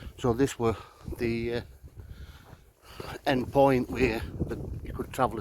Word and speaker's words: Eyam: Graves well I'm in I me or e as it's pronounced so I'm going to